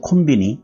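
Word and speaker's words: コンビニ: 번호로는 컨비니언스 스토어라고 있지만 더 줄여서 간단히 콤비니고 들 많이 합니다 그러니까 여러분들께서도 콘비니 이렇게 발음하시면 될 거 같고 아마도 뒷모습이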